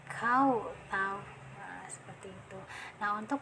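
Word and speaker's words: الْكَوْثَرَ: Nah, jangan dibaca kausar, jangan ya, tapi harus ditebalkan kau tahu.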